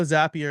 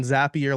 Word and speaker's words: Zapier: a couple years ago zapier is the proper pronunciation zappier like happier is what I was told so um building a simple Automation in zappier and then lots of